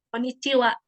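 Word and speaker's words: こんにちは: Jadi konnichiwa kayak gitu. Makanya ini dibacanya bukan H gitu, tapi wa.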